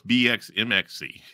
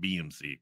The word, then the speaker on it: BxMxC: think is it what's BX mxc it's like no you got to pronounce it BMC chord to Wikipedia limited